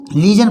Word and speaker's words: lesion: इसी प्रकार से LESION, इसमें भी देखो SION यूज हुआ है लेकिन उससे पहले वोवेल है ई। लीजन पढ़ेंगे इसको, लीजन मीन्स जख्म या घाव।